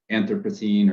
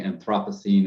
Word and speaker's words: Anthropocene: Could you just briefly introduce the term Anthropocene, or some people say Anthropocene, and what you mean by that term? Yes, so both pronunciations, the Americans tend to say Anthropocene and the Brits say Anthropocene.